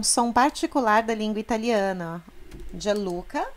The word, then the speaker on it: Gianluca: Gianluca, G explosivinho, Gianluca.